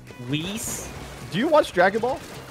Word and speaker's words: Whis: the other side uh if I'm not mistaken it's pronounced whis whis do you watch Dragon